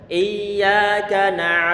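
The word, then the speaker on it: إِيَّاكَ: kencang-kencang iya kan ini yaknya harus diterbitkan nggak boleh kita nanti artinya berubah Iya Kak yang tanpa disertai dengan tasydid itu adalah sinar matahari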